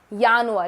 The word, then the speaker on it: Januar: Similarly, J is pronounced as year. So, Yanuir, it's not January, it's Yanuir.